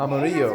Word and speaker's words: Amarillo: The L's are silent.